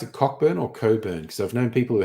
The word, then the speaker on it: Cockburn: pronounce it cockburn or Coburn because I've known people who have that as their name and they always say it's Coburn um I did see